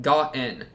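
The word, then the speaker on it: Gaen: Yeah, we got Ugi, and then we got Ga-en. For I was calling her like Gain and Gaon and whatever. The you know what I'm talking about, right? Ga-en.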